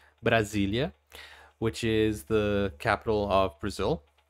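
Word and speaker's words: Brasília: In my country, Brazil, we also have a district which is called Brasilia. Actually, let me say that in the right pronunciation. Brasilia, which is the capital of Brazil.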